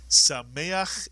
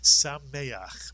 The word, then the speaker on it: Sameach: The word is Sameach is correct. Sameach. Mitsuyan. Sameach. And you know what Sameach means.